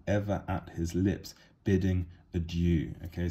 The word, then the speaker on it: adieu: Joy is being personified as somebody whose hand is ever at his lips, bidding adieu. Okay, so adieu, or adieu, if we want to say the correct French pronunciation, is goodbye.